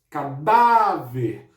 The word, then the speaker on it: cadáver: Cadáver. Por que que o dá é acentuado? Porque cadáver termina em R.